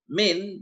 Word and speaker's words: من: I think now min by kasra, okay, min by kasra is preposition. Okay, man as fatha is a quas.